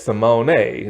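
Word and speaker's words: Raven-Symoné: Yes, Simone. That's like actually how you say her name. It's a little asterisk above like her last name.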